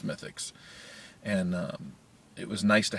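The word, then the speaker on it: Smithwick's: on tap called smithix it has a w and it's Smith Wix but you pronounce its mythics and it was nice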